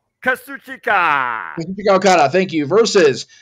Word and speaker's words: Kazuchika: Kazuchika Okada, thank you, versus 2 members of the